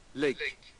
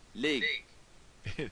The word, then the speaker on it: lig: Well, it's a slender G, so it should be pronounced more like a K. Lick. Lick. All right. That's what they do in Ster. But, um, leak.